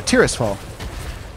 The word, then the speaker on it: Tirisfal: How do you pronounce that? Yeah, Tirisfal.